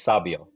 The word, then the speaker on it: Sabio: It's Sabio. Like Fabio but sexier.